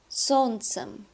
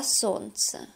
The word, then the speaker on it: солнце: Солнце, солнце, солнцу, солнце, солнцем, а солнце. By the way, notice that the sound, the letter L is not pronounced. We do not say солнце. We say солнце.